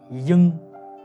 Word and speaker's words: ying: Now next, we come to "ying". "ying". Actually, "ying" is exactly the same as "ing". We don't pronounce the "y", just pronounce "ing".